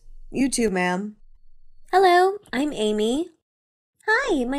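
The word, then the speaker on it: Aimee: is your name not Amy am no but it sounds the same how do you spell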